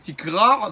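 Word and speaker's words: תקרע: Tikra, c'est déchirer. Si quelqu'un ne prononce pas bien les choses, il dit chez tikra. Il dit pas le aïn à la fin.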